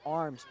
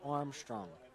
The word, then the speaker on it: Armstrong: I've been pronouncing it Arms, but I'm pretty sure, yes, it is Armstrong.